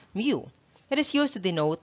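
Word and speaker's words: μ: of the greek alphabet this is the spelling but it is pronounced as mu it is used to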